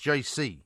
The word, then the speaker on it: Geise: well, the name is spelt Geise, but Matt says it's pronounced JC.